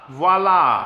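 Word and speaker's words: voilà: And voila, voila. Starts with a V, I always forget that, gotta say it right.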